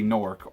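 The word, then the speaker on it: Gnorc: by the villain nasty nork organ asking NORC in this game the pronunciation changes depending on which game you're playing and apparently he has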